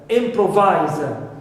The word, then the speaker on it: improvise: Now, also with eyes, like improvise. So here, as it ends with eyes, I must stress the first syllable.